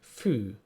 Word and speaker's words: fű: And the long version of this is the long U. U. And our word for today will be fű.